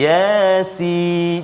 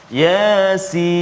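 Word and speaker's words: يس: Yasin. Jangan ya tu panjang. Yasin. Salah. Ya tu 2 harakat saja. Jangan 2 rakaat. Yasin.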